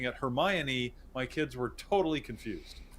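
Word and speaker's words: Hermione: sworn the lead female character her name was Heron and I just said Heron to my kids for years and when the movie came came out and they started pronouncing it hermion my kids were totally confused because I had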